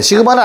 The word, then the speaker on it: 시그마: 시그마는 아예 처음 듣는 친구들도 있고 들어본 친구들도 있고 얘가 뭐죠? 뭐라고 읽는다고? 시그마 시그마 스펠링 S I G M 어 그래 좋아요. 그래도 한번 했다고 짜시 시그마라고 읽고요.